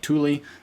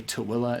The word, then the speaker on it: Tooele: A lot of people call it Tooele, but it is actually Tooele is how you pronounce it.